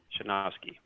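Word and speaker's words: Sejnowski: deep learning revolution nice and it's by terrance pronounces it shanoski really really good it has a lot of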